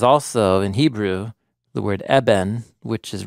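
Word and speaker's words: אבן: Rock is also, in Hebrew, the word eben, which is rhymes with the word sun.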